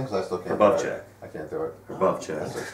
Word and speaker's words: Bochiccio: Now, is your last name pronounced Bochiccio? Yeah, Bochiccio, yeah. Yes. You got it. CH is a K.